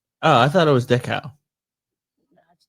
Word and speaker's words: Dachau: I visited Dachau in Dachau? Munich. No, Dachau. Oh, I thought it was Dachau.